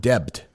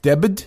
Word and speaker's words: debt: And then cancel student debt. Debt. Debit. Debt. You don't pronounce the B. It's silent.